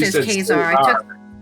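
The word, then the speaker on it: Caesar: Yeah, how you pronounce it is Khazar. I took Kazar. That's how you pronounce it in Latin.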